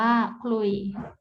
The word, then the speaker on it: ขลุ่ย: ควบ รอ ลิง เช่น คำ ว่า ขลุ่ย อ่าน ว่า คลุย คอควาย พบ ลอ ลิง